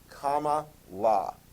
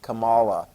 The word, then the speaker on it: Kamala: Kamala. Kamala. Anyway, that's how you pronounce it. I was always calling it Kamala, but apparently that's not pronounced right, but whatever.